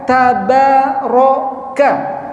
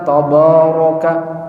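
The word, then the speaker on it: تَبَارَكَ: Jadi pengucapannya tabaraka. Tabaroka hah. Tabaroka bukan tabaraka.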